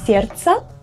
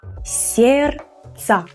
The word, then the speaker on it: сердца: Сердца. This letter is silent. So, you will say сердца, not сердца.